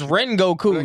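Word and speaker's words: Rengoku: You know how you know how I feel about it's Ren Goku. You even pronouncing his name wrong.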